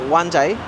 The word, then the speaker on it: Wan Chai: This is spelt Wan Chai, or in Chinese, Wan Jai.